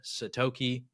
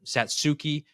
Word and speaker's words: Satsuki: and then also Leica satoki or Satsuki as how you pronounce it they both played on